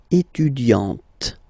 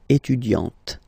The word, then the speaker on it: étudiante: Okay, but then for the feminine form, elle est étudiante. Okay, T, T, T. Okay, you don't really insist on the E, but you insist quite much on the T. Elle est étudiante.